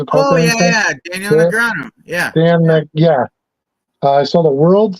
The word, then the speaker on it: Negreanu: I sold a Daniel Negreanu, or how do you pronounce his name? Negreanu? Netanyahu? No, you ever watch poker? You ever watch like World Series of Poker? Oh, yeah. Daniel Negreanu.